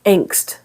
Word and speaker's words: Angst: So angst. And in German, they pronounce it Angst.